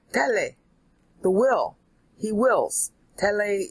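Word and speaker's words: θέλει: Tele is the sound of it. Is T-H-E-L-E-I, meaning he wills.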